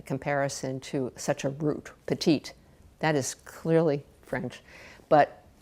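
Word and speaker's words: Petitti: So they pronounced petit as petite, which then got spelled with a double T and an I, P-E-T-I-T-T-I.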